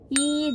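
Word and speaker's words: 이: itu kan tulisannya Lili Tapi kalau asli Koreanya itu dengan huruf i pada nya hihg contohnya misalnya ih Jong Wook Jadi bukan Lee Jong Wook tapi hijau move kayak gitu Jadi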